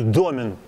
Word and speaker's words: домен: Кстати, правильное ударение в этом слове – домен. Оказывается. А домен – это наш с вами жаргон.